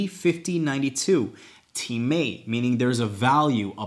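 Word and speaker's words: τιμή: spelled time can you believe that but it's pronounced teammate t-e-e-m-a-y and it's a valuing a price so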